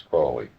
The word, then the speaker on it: Crowley: to help you remember that my name it is my name is because that I am Holy my enemies say crowy wish to treat me fly so now you'll never forget how to pronounce it it's cly um how do you